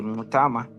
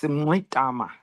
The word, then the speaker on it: Mngxitama: Yes, my name is Andile Mngxitama. It's got those clicks which we inherited from the Khoisan.